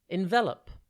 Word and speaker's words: envelop: one word at a time today's word is envelop it's pronounced n the L and it is spelled